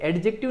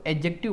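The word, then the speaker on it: adjective: देखो इसको एडजेक्टिव नहीं बोला जाता है। डी यहां पे हमेशा साइलेंट रहता है। इसको एडजेक्टिव बोला जाता है।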